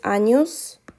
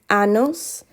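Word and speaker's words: años: in the spanish alphabet it is not pronounced like an n it is pronounced like because annos means something entirely different okay 46.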